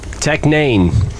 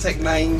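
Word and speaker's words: Tech N9ne: Tech Nane. Did I know he spells his name? N-A-N? No, it's a nine. He makes the I a nine. What's that look like? Look how it's spelled. Tech Nane.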